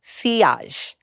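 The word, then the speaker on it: sillage: Often referred to as having a good seage. That is pronounced seage which is French for wake or trail like the wake left by a boat.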